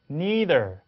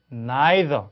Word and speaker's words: neither: neither. 자, British English로 하면 neither. 그렇죠? 그렇게 되겠죠. 다시 들어볼까요? neither, 할 수 있고 neither, 이렇게 그죠? neither, neither 이렇게 발음이 나옵니다.